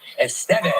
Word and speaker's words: Estevez: Please welcome back the very talented Emilio Estevez. You said it right. You said it right. Estevez.